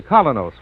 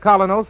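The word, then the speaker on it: Kolynos: you'll see the difference so start today the colonos way your reward will be a naturally brighter more attractive smile the kind of smile that helps you go places in Social and business life you can get colonos at any drugstore tonight that's spelled KO y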